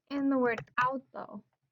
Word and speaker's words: auto: Like in the word auto. No broken diphthong here. Auto. Two-syllable word. Falls under accent rule 1. Verbal stress is on the second to last syllable.